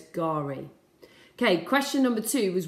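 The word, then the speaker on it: K'gari: for fraser island so it's called gari but remember it has that silent k at the beginning so it's gari okay question number two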